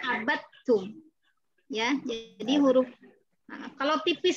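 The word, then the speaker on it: عَبَدْتُمْ: Tulisannya bukan abattum al ain ba lalu tak tasjid langsung, enggak. Ada dal dulu di situ baru ketemu ta. Kita bacanya abattum.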